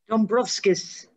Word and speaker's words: Dombrovskis: How do you pronounce that? Dombrovskis.